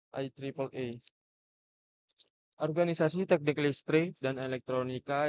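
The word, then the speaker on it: IEEE: Organisasi standar ini meliputi hal-hal berikut yaitu Institut Insinyur Listrik dan Elektronika atau IE diucapkan IAEA.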